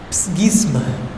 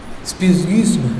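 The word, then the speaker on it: ψεῦσμα: El término griego es difícil de pronunciar, es psgisma, ¿no? Realmente no es gis, no y, psgisma, es así, ¿no? Porque es una U con diéresis, ¿no? Y se pronuncia y, ¿no?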